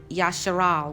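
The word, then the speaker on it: Yisrael: if you look at the name um yashiral which is actually um the correct way to pronounce Israel the name yashirao means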